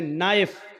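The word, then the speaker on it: knife: जैसे इंग्लिश में नाइफ किसको कहते हैं? चाकू को। नाइफ के माना चाकू लेकिन के लिखा जाता है बोला नहीं जाता। वह साइलेंट रहता है।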